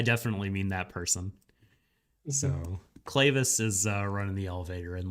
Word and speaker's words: Clavis: I know that in Japanese they pronounce his name Kuravisu, but you mean Clavis is what I read the elevator operator.